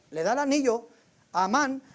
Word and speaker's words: Amán: No le encontré el acento a la A, pero es con acento en la segunda A, ¿no? Encontramos a un personaje que se llama Amán y este compa es malvado.